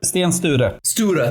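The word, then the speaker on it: Sten Sture: St is that how you say it St Stan St stura thank you yeah and that family comes up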